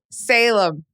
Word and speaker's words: Salem: Salim? How do you say it? Salem. Salem. Like the Salem witch trials.